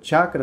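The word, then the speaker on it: चक्र: eternizado na palavra chacra muitas vezes a gente lê ch a a gente está vendo os textos de ouro e fala chácara mas não tem chacra nem chacra chacra pronúncia correta chacra só significa roda centro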